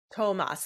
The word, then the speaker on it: Tomas: Tomas.